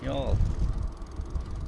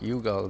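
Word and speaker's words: Youghal: Y'all Y O U G A L. I know. I know that spelled like yugall but said is y'all how y'all doing this That is actually there.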